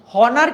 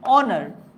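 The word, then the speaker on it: honour: না ইট was dash হনার কি বলছো তোমরা উচ্চারণ কি হনার করছো নিশ্চয়ই না আমরা উচ্চারণ করছি কি অনার তাই না সো এই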